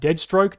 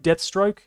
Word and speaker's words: Deathstroke: Deadstroke. Deathstroke. Did I say it wrong? I thought it was deathstroke. Are you gaslighting me, mate? No, it is Deadpool and Deathstroke.